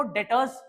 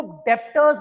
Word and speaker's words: debtors: तो एक टर्म यहां पे लिखो डेटर्स, स्पेलिंग है DEBTORS, इसको डेप्टर्स मत बोलना, बी साइलेंट है, तो टर्म है बॉस डेटर्स।